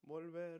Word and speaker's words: volver: Volver, volver. So, it becomes vuelvo for I, return. Something to note. So, volver, this last syllable is stressed.